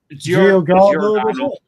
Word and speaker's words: Giordano: I cannot pronounce the man's name. Giordano.